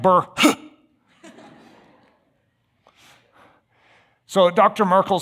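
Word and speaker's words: burh: something known as the Burr system don't you love these old words furred and Burr and and look how it's spelled b-u-r-h looks like Burr so Dr Merkel says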